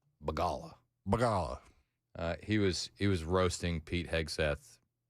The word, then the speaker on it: Begala: That didn't stop CNN and Paul Begala. Is that how you say it? Begala? Begala.